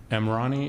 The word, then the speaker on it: Emrani: And in terms of the pronunciation, I say it's Emrani. It rhymes with Armani without the money.